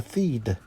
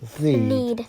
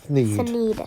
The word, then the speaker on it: Thneed: and I needed a theed. It's actually pronounced theed. Thneed. Thneed. That's correct.